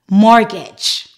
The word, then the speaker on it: mortgage: This word doesn't follow any of the particular rules I mentioned, but the T is silent.